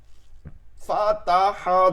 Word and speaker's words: الفتح: তবে কিভাবে হবে, তাকে আপনি 70% উচ্চারণ করবেন, 70% উচ্চারণ করবেন তায়ে ফাত, এরপরে 30% 30% উচ্চারণ করবেন কি, 30% উচ্চারণ হবে হচ্ছে হা, ফাত ফাত ফাত ফাত। যে কোনো এরকম উচ্চারণ দেখবেন মাঝখানে যেটা ডিরেক্ট ধরছে জজম দিয়ে, ওইটা সর্বোচ্চ মানে জজম দেবেন ওইটা বেশি, এর পরেরটা হালকা উচ্চারণ করলে এটা চলে আসবে, ওয়াল ফাত ফাত।